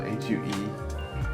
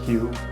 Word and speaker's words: Hue: It's spelled H-U-E. So it looks like Hue, but it's Hue.